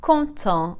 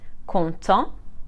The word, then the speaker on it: content: of the masculine like conto and content happy as you can hear just like for nouns the consonant is silent at the end of the masculine but we pronounce it for the feminine conto and conton if the